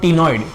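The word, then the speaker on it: ctenoid: Scales are cycloid और टिनॉइड। टिनॉइड का बच्चा स्पेलिंग ये रहा।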